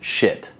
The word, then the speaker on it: Schiit: The name itself, yeah, it's pronounced Schiit.